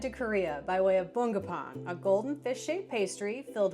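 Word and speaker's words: 붕어빵: I got a little help from my friend Juhea to help me pronounce this correctly. Bungeoppang. Bungeoppang. Bungeoppang. Bungeo means uh goldfish. Ppang means bread. Bungeoppang.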